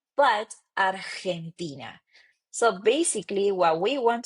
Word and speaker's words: Argentina: Argentina. It's not Argentina but Argentina. So basically what we want to focus here it's in the pronunciation of the H the vowels and also pronunciation of the G.